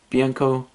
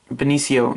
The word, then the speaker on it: Benicio: It just looks so cool, and I just love Bianco, I don't know how to pronounce his first name, Bianco Del Toro, Benicio, that's how you pronounce it.